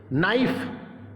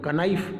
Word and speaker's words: knife: जहां पर भी KN एक साथ आ जाए, आंख बंद करके K को साइलेंट कर दो, कर दीजिए। कैसे करोगे देखिए आप, जैसे नाइफ, KNIFE, नाइफ मतलब चाकू होता है, तो ऐसे नहीं बोलेंगे कनाइफ, नहीं, कनाइफ नहीं बोलेंगे, इसको नाइफ बोलेंगे। K साइलेंट है क्योंकि K और N साथ आया।